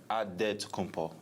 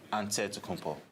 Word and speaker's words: Antetokounmpo: how you pronounce it the nigerian way you gotta say with a d so it's a dead compo but in the greek way you say with the nt like antetokounmpo whatever you got just